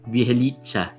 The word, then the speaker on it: Bjelica: I think the pronunciation is Bjelica. That's how I hear announcers calling him.